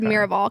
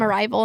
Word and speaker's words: Miraval: there's another one but this one's called miraval cuz I called it arrival and you're like that's not how you say it that you're you're not